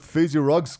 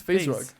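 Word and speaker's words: FaZe Rug: We were about to square up with Fazy Ruggs group. What's his name on Who? YouTube? Phase rug.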